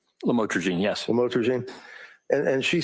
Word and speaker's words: lamotrigine: Did I pronounce that right? Lamotrigine, yes.